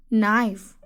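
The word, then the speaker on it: knife: नाउ the next word is नाइफ। नाइफ, के is silent, के is silent, so नाइफ।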